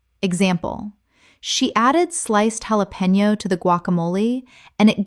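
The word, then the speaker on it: jalapeño: Jalapeno. Common mispronunciation. Jalapeno. Correct pronunciation. Jalapeno. The J makes an H sound in Spanish and the N Y makes a knee sound. Example. She added sliced jalapeno to the guacamole and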